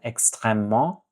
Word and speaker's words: extrêmement: Extrêmement important. That ment sound, nasal sound, extrêmement important.